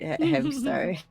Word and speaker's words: Hamsktar: people sometimes they get confused like what the K is silent. You're supposed to say star instead of a, and like yeah, it's actually hamstar.